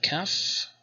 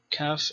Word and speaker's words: Kaf: Next is the Kaf, with two pronunciations, either a stop, K, or some kind of post-vocalic fricative, Ch or Cha.